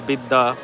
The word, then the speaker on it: Vidya: but it is very intentional mispronunciations of Ishwar as Ishwar, and Vidya as Bidda, and Suraksha as Surakha.